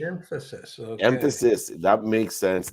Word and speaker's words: Mphasis: and the company's pronounced emphasis is the emphasis without the e emphasis okay emphasis that makes